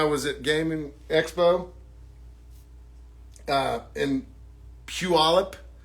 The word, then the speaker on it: Puyallup: Gaming Expo in Puyallup, which does not sound the way that it's spelled. That's why I think it's funny that I can pronounce it, because I was taught how to pronounce it correctly. And I do think I'm saying it correctly, but Puyallup, Washington.